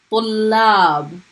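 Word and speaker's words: طلاب: How many times am I pronouncing it? Tullab. I'm stopping on it first and then I'm pronouncing it the second time. So it's being pronounced twice.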